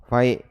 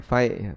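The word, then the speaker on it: فيء: Yang kedua, fai' al-fai'u. Fai' ini didapatkan tanpa melalui kontak senjata. Bacanya fai', bukan fa'i. Yang ketiga, salab.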